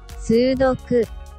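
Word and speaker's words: 数独: If you're unfamiliar, this puzzle originated in Japan and is pronounced like this in the original. Sudoku.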